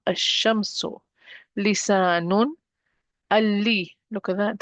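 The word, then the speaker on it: الشمس: I'm going to delete one of the vowels and I'm not pronouncing the lam. Ash-shamsu.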